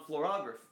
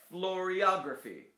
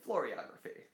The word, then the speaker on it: floriography: Tucked inside the Lot 76 Commonplace book, footnote 16, near the end of a section on florography? How do you say that word? Floriography. It's like choreography. Floriography.